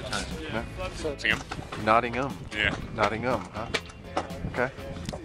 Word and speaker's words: Nottingham: Nottingham. Huh? Okay. It's a silent H. But not like herb. No, herb's got an H at the beginning, so you pronounce it.